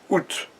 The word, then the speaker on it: août: donc le mois d'août, et je lis, alors, août, et c'est intéressant parce que se prononce ou, OU, donc ça n'a pas